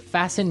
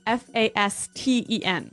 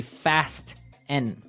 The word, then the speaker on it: fasten: It's spelled f a s t e n. Right. So it would be fast n. No. No. Right. Fasten. Fasen. The t kind of becomes silent.